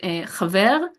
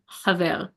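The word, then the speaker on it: חבר: So this question, um, let me say the word chaver and chaver. Can you hear the difference? Chaver, chaver. And that means friend. And ein, ein. That means I. Ein, ein. So the second time I was pronouncing them like properly, like with the glottal pronunciation.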